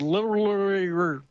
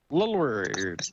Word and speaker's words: literally: said, a dagger was literally, he had trouble with those words. Did you hear that? Literary. It sounded like he was rhyming with Hillary, but a dagger was literally held to the throat.